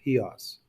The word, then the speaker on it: Chios: It's spelled Chios, but it's pronounced Chios.